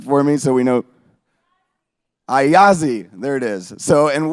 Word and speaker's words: Ayasdi: who is the founder of Assad can someone pronounce it for me so we know I Ozzy there it is so and what they do